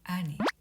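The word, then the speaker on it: 兄: 형, 오빠, 아니. 아니, 와타시노 아니 데스. 제 형, 제 오빠입니다. 간혹 오니라고 발음하는 경우가 있는데요. 오니는 도깨비이고요. 형과 오빠는 아니가 되겠습니다.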